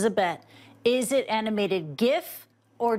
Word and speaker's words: GIF: bet is it animated gif or Jif and why we take the hard G stance if you say jiff that's totally fine with